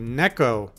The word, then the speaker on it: Neko: this game it's called neko para vol 2 neck oh because that's how you say cat in Japanese it's modern combat black